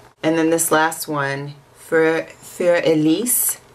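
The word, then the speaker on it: Für Elise: then this last one for elise if you're gonna try to say it correctly it's german and it is um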